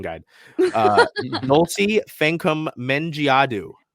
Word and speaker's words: Fankam: pronunciation guide uh Nolte fancum mengiadu say with me Dulce can come like f-a-n come c-o-m-e men G ah do